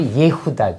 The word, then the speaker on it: 예후다: 아들 중에네 번째 아들이에요 근데 유다의 히브리 발음은 우리는 유다라 그러지만 성서 구약 성서 히브리 전부 예후다 예후다 예후다 예후다이 유다는요 요거 정도는 알아주셔야 돼 예후다 예후다 유다의 원래 히브리 발음은 예후다 예다 그런데 요거는 예호와